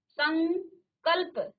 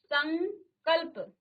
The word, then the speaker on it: संकल्प: म बंधी नियम है और उच्चारण देखिए यहां पर संकल्प संकल्प क्योंकि पांचवा वर्ण जो है अनुस्वार हो गया है और इसका उच्चारण में देखिए आप अंग का कहीं ना कहीं उच्चारण आ रहा है संकल्प संकल्प तो